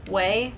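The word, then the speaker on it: OUAI: Next up, this brand name confused me for the longest time. Way, because it's spelled O-U-A-I. Way.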